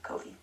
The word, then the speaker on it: Ko-fi: Oh, Ko-fi, there we go.